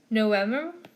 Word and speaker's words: November: So Kaiser, December, and then V's, if you've noticed, November V's are pronounced like W's.